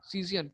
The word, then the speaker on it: scion: एक ऊपर वाला पार्ट होता है, ठीक है, इसको बोलते हैं, इसका स्पेलिंग लिख लो SCION, सीजियन, ठीक है।